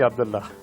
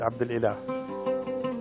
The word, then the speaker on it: Abdulillah: Still he called me Abdullah, where my name is Abdulillah.